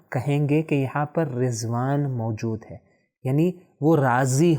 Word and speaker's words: رضوان: صحیح تلفظ کیا ہے؟ رضوان. ہم اردو میں کیسے تلفظ کرتے ہیں؟ ہم کہتے ہیں رضوان. کیوں؟ کیونکہ ہم ضاد کو اس طرح جس طرح عربی میں تلفظ ہوتا ہے اس طرح نہیں کرتے.